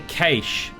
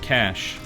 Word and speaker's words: cache: See, I say cache, but apparently it's pronounced cash.